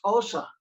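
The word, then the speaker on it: Xhosa: called zulu z-u-l-u and osa and it's got it's got a clock click in it like osa osa also like that anyway so it's spelled x-h-o-s-a so those languages you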